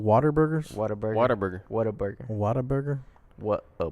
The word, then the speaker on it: Whataburger: The way it's spelled, people say Waterburger, but it's what a burger.